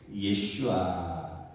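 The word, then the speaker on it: יֵשׁוּעַ: 예슈아 여호수아가이 히브리어 발음으로 예슈아입니다.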